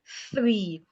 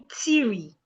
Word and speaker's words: three: Note how I pronounce the word three. I didn't say ti, I said three.